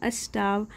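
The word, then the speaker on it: starve: यहाँ पे आर silent होता है, इसे पढ़ेंगे हम स्टार्व यानी कि सीइंग यानी देख करके, डकलिंग स्टार्व यानी उस बत्तख के बच्चे को भूखा।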